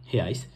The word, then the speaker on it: reais: বাট আমরা জানি কি যে ব্রাজিলের কারেন্সির নাম হচ্ছে হেয়াইস, যেটাকে ইংলিশে যদি আমরা লিখি হয় REAIS, বাট পর্তুগিজ ভাষায় কিন্তু উচ্চারণ হয় হেয়াইস।